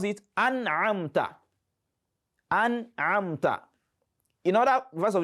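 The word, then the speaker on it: أنعمت: We have recited that word the way it has been written, an'amta. Just pronounce the noon and move ahead to the next letter.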